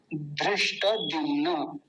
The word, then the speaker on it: धृष्टद्युम्न: लेकिन ये धृष्ट नहीं है, धृष्ट, और ट भी पूरा धृष्ट। और द्युम्न, द्युम्न, धृष्ट द्युम्न।